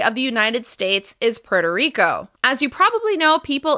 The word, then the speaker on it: Puerto Rico: As you can hear, the stress is still on the second word. It's on the first syllable of the second word. Puerto Rico. Puerto Rico.